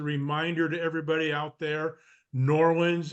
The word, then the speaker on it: Norland: to everybody out there Norland is two syllables not three or four it's just Norland thank you very much